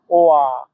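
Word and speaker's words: 我: এখানে দেখেন এটাতে চাইনিজের তিন নাম্বার টোন ব্যবহার করা আছে। তিন নাম্বার টোন উচ্চারণ নিয়ম হচ্ছে উপর থেকে নিচে আবার নিচ থেকে উপরে। ওয়া ওয়া আপনারা আমার সাথে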